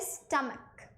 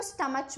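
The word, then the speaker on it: stomach: जैसे कि यहाँ पे वर्ड लिखा है स्टमक, जब मैं छोटी थी हम इसको स्टमच बोलते थे, क्यों, बिकॉज हमारे आसपास जिन बच्चों को मैंने देखा वो वही बोलते थे, तो मुझे तो इस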